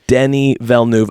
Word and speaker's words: Denis Villeneuve: Okay, yes, I believe directed by Denis Villeneuve, I believe is how you pronounce it.